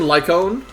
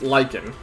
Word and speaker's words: Lyon: on or Lyon lyen I want to say his name is supposed to be lyen I keep want to saying lyone but it's it's lyen he feels weird to